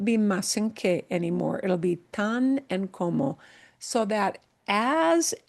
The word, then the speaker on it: tan: This very short word tan. All right? And never pronounce it as tan like tanning salon. It's tan.